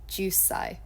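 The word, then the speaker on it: 十歳: It's kind of like in this word, there's 2 syllables, ju, sai. However, when we have this little consonant extending, it becomes, you add like an S onto the end of the first syllable as well.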